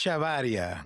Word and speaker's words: Echevarria: Kathleen Ko estas, I do not speak Spanish and my last name I cannot pronounce. Don't ask me to. It's shavaria.